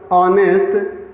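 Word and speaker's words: honest: अब देखिए, आवर, ऑनेस्ट, historical, honourable, air, सभी में एच साइलेंट रहता है। ठीक है, एच साइलेंट रहेगा और इन शब्दों का उच्चारण आ से शुरू होता है जो स्वर ध्वनि अर्थात वावेल साउंड देते हैं।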